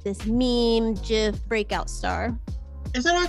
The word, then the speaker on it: GIF: of like this meme GIF breakout star is that I pronounced I thought it was gift like giraffe so okay some people say give I say GIF I think peanut butter